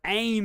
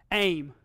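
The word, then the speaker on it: אֵם: of any political miss this one aim like ready aim fire and then off for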